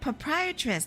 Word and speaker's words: proprietress: I borrowed the key for the mask from the proprietress of the Waxwork Museum. Oh, proprietress. That's how you say it.